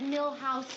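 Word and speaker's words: Milhous: me to remind you it's Richard mil house Nixon not M horse hi yes hi what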